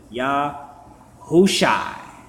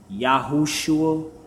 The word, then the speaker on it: Yahushai: And then you pronounce the rest of the four letters all straight together. Yahushai. Yahushai. But when people say Yahushua, I'm okay with it.